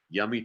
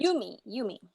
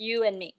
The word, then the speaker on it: Yumi: And I believe this is her first novel, Stand-Up Yummy Chung. I hope I pronounced that right. Yumi. Oh, thank you. You and me, yes.